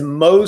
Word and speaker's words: Mohs: I have a playlist on our channel, and it says Mohs surgery. It's spelled M-O-H-S.